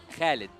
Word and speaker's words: Khaled: H actually my name my real name yeah it is Khaled Khaled khed yeah okay so that's how we pronounce it yeah you tried that